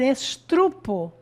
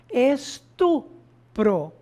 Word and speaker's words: estupro: Muito comum também a pessoa falar estrupo, quando na verdade a palavra correta é estupro, né?